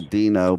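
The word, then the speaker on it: Deano: So, yeah, funny, my childhood nickname, and people have known me most of my life, is still Dino, but it's spelled the way my name is spelled, with the E-A-N-O.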